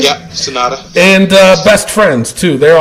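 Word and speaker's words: Sanada: Yeah, Sonata.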